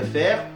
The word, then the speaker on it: fair: Donc autant tout mélanger, tant qu'à faire parce que pourquoi pas. Ainsi, lorsqu'il est censé prononcer le son /eɪ/, suivi de la R, l'anglais prononcera plutôt un /eə/, comme par exemple, avec fail et fair.